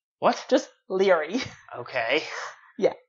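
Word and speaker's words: Laoghaire: AI R e okay like how would you pronounce them I don't know I thought it was loud err okay so I'm watching this video and apparently it's pronounced Leary what's just Leary okay yeah like what the and on the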